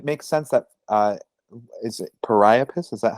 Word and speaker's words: Priapus: No, and it makes sense that is it Priapus? Is that how you pronounce it? Priapus, yeah, That Priapus.